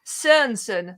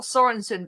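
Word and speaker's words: Sørensen: it's jakub lunky cernson you sort of don't pronounce the o you don't pronounce the r as hard but you know i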